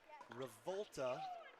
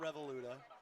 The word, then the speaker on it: Revolta: semifinal Lauren Mado Brook revolta not revoluta finally corrected I was adding a syllable which is on brand